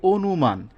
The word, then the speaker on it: অনুমান: আদ্য অ এর যে আদ্য অ এর পরে যদি রসই দীর্ঘই রস দীর্ঘ এই চারটি বর্ণ বা এদের কার চিহ্ন থাকে তাহলে অ এর উচ্চারণ ও এর মত হবে যেমন উদাহরণ অনুমান হ্যাঁ